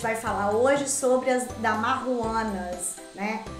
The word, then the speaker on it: Damajuana: vinho a gente vai falar hoje sobre a dar uma Huanna né É assim mesmo deixar aqui como se escreve mas é uma palavra que em espanhol